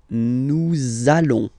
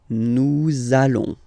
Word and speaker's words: nous allons: I'm sure you are, you want to make this beautiful and little liaison, so this little link between the words, so it does mean that you will have to pronounce this z sound, okay, listen to me, nous allons, nous allons.